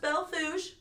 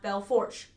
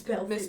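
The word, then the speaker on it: Belle Fourche: Now, those of you who may know how Bellefourche is spelled, it is pronounced Bellefourche. It's not Bellefourche, like it looks. It's Bellefourche.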